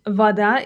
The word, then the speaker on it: вода: The O in vada is actually pronounced like an A. That's because it's unstressed. This is a very common rule in Russian. Unstressed O becomes A.